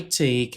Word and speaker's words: take: O e no final de palavras em inglês, raramente é pronunciado. Então aqui eu sempre paro na consoante anterior.